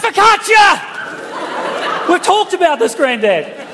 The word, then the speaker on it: focaccia: Well, Granddad's going, I'd like some fellatio, please. It's pronounced focaccia!